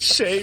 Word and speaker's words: Shez: gm to spit dick shay rhymes with grey it's too good it's